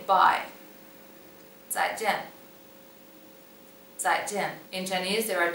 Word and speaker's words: 再见: 再见.